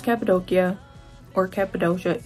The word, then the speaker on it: Cappadocia: the hot air balloons in capid doia it's pronounced capid doia or capid doia it's really capid doia I say capadia but it's known for the hot air balloons